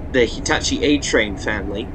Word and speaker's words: Hitachi: built by Hitachi yes that's how it's pronounced in Japan Hitachi and not Hitachi or something like that